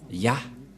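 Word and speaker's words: יה: vais mettre en bas, sa prononciation se lit I et l'autre se lit AH. Je vais expliquer simplement. Et lorsque on va regrouper à la normale, ça se transforme en Ya, que nous allons écrire ici, Ya.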